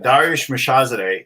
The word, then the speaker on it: Darius Mirshahzadeh: We'll use the Persian native pronunciation. Darius Mirshahzadeh.